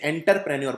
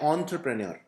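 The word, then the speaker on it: entrepreneur: कई लोग इसे एंटरप्रेन्योर बोलते हैं। तो एंटर नहीं है। ध्यान से देखिए ऑन है तो आपको बोलना है एंटरप्रेन्योर। तो इसका उच्चारण इस तरह से किया जाता है।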